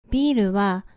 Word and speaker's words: ビール: Here, for the consonant "r," a vowel "ウ" (u) is added, and it's pronounced as "ル".